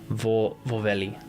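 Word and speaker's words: vohveli: And for the record, I don't really it doesn't really mean anything, but rhymes with the Finnish version of waffle, vorveli. Vorveli. I'll say porveli then.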